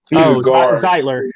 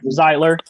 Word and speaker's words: Zeitler: new york the ziegler oh no i pronounced his last name zeitler zeitler kevin zeitler yeah he